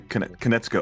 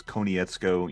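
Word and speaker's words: Konietzko: it right Brian can it's Brian canetsko okay so I I thought it was coneyetsko you know I've pronounced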